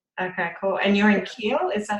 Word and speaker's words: Kiel: And you're in Kiel? Is that how you pronounce it? Kiel? Kale.